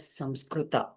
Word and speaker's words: Sanskrit: A Sanskrit word is originally pronounced as Samskrita. So, but due to language and pronunciation difference, people have started to pronounce it as Sanskrit.